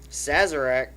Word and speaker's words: Sazerac: takara holdings which is a japanese company but sazerac is that how you say it it is